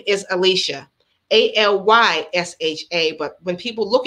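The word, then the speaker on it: Alysha: head they'll call me alyssa they'll call me ashley or a lit nobody can pronounce it alicia but that's okay but you guys know it's alicia a-l-y-s-h-a i don't mind when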